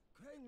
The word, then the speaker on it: Crane: No, my name's Crane. I make Mama happy. Crane rhymes with train.